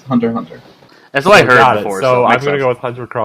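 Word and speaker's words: Hunter × Hunter: you are deer card about the authentic pronunciation it's hunter hunter that's why I know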